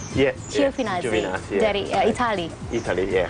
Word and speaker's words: Giovinazzi: Did I pronounce it right? Yeah. Giovinazzi.